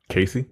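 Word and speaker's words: Kasi: woman's name cut ka si how do you pronounce that Casey Casey Casey yeah she's yeah she's direct and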